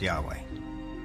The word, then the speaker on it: Yahweh: knew God by his intimate personal name conventionally pronounced Yahweh passages with the name Yahweh which in German